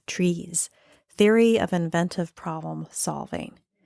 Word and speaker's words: TRIZ: is typically considered part of a system called trees theory of inventive problem solving trees is a systematic way to understand problems and